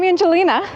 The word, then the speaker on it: Ayngelina: Now, to give you a little bit of background if you're new to my channel, so I'm Ayngelina, Y is silent in my name, and I run a website called Bacon is Magic.